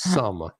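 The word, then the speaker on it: Xumm: but it's pronounced according to win it's a pronounced some as you am like some of the hey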